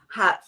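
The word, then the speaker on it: haute: go to Facebook and hashtag hot flashes and hat is spelled h-a-u-t-e flashes all one word you can keep up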